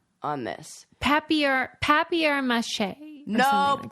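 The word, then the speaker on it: papier-mâché: Papier mache.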